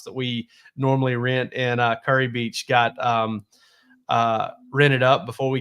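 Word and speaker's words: Kure Beach: And Curry Beach, Dylan, is spelled Kure.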